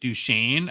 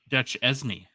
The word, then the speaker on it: Duchesne: looking at our notes I don't know how the heck you get duchan out of how his name is spelled d u c h e s NE e it's should be like Dutch esny well this is one